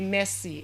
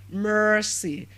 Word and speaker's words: Mercy: Now I also have another name, and the name is spelled as Mercy. Mercy. And the name is pronounced as what? Mercy. So you don't say messy. It's not messy, but mercy.